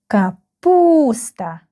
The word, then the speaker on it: капуста: КАПУСТА. КАПУСТА. The second syllable is stressed.